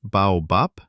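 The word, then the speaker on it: баобаб: But when the sound finds itself at the very end of a word, it gets too lazy to vibrate. The vocal cords go to sleep and the voiced be turns into the voiceless pe.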